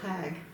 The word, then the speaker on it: Hag: And she goes, because it comes up Bonadie Lindenmuth Hag. I said, I'll get right on that. Like Martha Falker. Yeah. Hag, H-A-G. But that's not how they pronounce it.